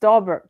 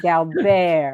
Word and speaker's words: Dalbert: He also pronounced Dalbert correctly. He didn't say Galbert.